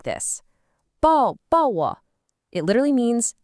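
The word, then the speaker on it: 抱: The pronunciation is very close, bao, and the logic is just beautiful.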